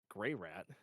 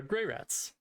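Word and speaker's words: Greyrat: spelled it for you it's probably pronounced gray art though not gray rat spell it again g-r-e-y-r-a-t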